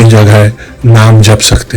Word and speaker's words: नमः: जब नमः आप बोलें तब नमत ना बोलें। अधिकतर लोग ओम नमः शिवाय बोलते हैं, तो वो ना बोलें, उसका उच्चारण सही करें, ओम नमः शिवाय।